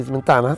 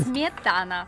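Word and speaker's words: сметана: Ti ci metto un po' di smentana? Sì. Smentana, dico bene. Smietana. Capito. Voi italiani non riuscite mai a pronunciare la S.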